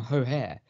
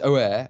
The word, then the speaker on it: O'Hare: it was um oggy the man who was never once pronounced an h inexplicably calling callum o'hare callum hohair just a top top moment i was just like of all the people he just never wants to pronounce it's always oh air and everything else and then this week he decided he tried to overcompensate and it just sounded spectacular so the moment of the